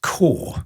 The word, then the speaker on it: Chur: It's actually pronounced core.